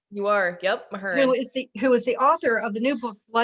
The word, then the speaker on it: Mahurin: Am I pronouncing it right? You are. Yep, Mahurin.